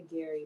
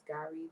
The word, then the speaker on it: gari: Normally I say Gary, but that's not how you say it. It's Gari, that cassava thing I sent you.